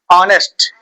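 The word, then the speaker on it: honest: जैसे मैंने लिखा मैंने लिखा ऑनेस्ट एच ओ एन ई एस टी और एच तो लिखा है लेकिन इसको क्या पढ़ते हैं ऑनेस्ट आ रहा है ना अब बताओ क्या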